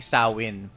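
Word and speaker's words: Samhain: na festival doon na ang tawag ay sawin sawin sawin. Pero ang spelling niyan samin yung spelling s a m h a i pero ang pagbigkas diyan is saw.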